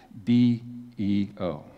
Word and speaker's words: deo: And that word sober is a Greek word transliterated D-E-O. It's pronounced deo.